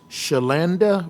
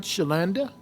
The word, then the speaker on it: Shalanda: our next speaker is shalanda Roberts did I pronounce that right shelanda or was it shelanda shalanda okay I'm sorry shalanda yes ma'am we want